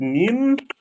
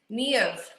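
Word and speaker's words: Niamh: Is it Neem? Neve. Neve. Yeah, the MH is more of the.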